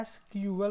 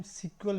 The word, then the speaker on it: SQL: और इसका जो प्रोनाउंसिएशन होता है एसक्यूएल होता है, और कुछ समटाइम सीक्वल भी बोला जाता है, डिपेंड करता है, आप जो चाहे यूज कर सकते हैं।